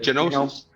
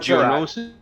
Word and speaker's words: Geonosis: I don't know how to pronounce Yeah. that. Genosis. That's all right. Geonosis.